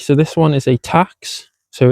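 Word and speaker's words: Tacx: So, this one is a tax, so it's spelled T A CX.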